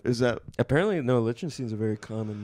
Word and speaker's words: Lichtenstein: Because you can do or, it doesn't matter. No, what's the Yeah. correct one? I mean, the Americanized version is.